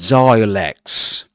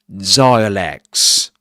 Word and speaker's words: dialects: He struggled to understand all the different British accents and dialects which he encountered on a daily basis and dialects. Zalects.